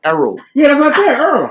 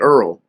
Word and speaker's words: Errol: on YouTube You'll see Earl you always mispronounce my name it's because he's from the DMV it's Harold you said Earl e-r-r-o-l our old make love